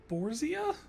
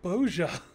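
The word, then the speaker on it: Bozja: will regain their freedom wait it's pronounced borzia it's entire time i've been calling it boja hmm rousing words might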